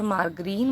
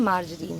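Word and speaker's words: margarine: तो hydrogen gas को ईंधन के रूप में भी इस्तेमाल किया जाता है और मार्गरीन मतलब कि मार्जरीन, प्रोनाउंसिएशन मार्जरीन है।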